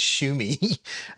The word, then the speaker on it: Xiaomi: I've been called out in the past for that with the whole Xiaomi thing or whatever it is, but it's Shumi.